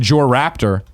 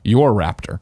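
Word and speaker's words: Jorraptor: Killax writes in and says, I said Jor Raptor himself pronounces his name Your Raptor.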